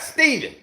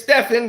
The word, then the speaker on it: Stephen: My name is Stephen because that is how it is spelt. It is a P in there, a PH. So it is Stephen, not Stephen. Stephen has a V in it.